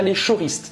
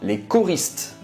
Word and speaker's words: Les Choristes: Não pronuncia Les Choristes, não. Les Choristes.